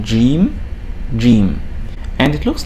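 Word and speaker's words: جيم: the tricky letters because in most parts of the arab world it's pronounced as je as in the sound j in the word george in english but in other parts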